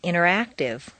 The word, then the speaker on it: interactive: the button exercise 47 rule five the silent t t and N are so close in the mouth that the T can simply disappear repeat one interview two